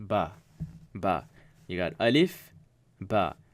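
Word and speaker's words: باء: B okay this is ba that's how it's pronounced ba ba you got alif ba alif is equivalent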